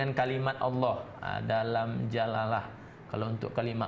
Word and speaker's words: Allah: Allah maka dibaca tipis jadi untuk kalimat Allah ini ada dua cara bacanya pertama tafkhim disebabkan oleh huruf yang berharakat fathah atau dhomah sebelum kalimat Allahnya kemudian kalau kasrah Itu